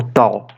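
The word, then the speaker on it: ταῦ: Depois temos o tal. Tem som de T de tatu ou de tia, como algumas pessoas pronunciam.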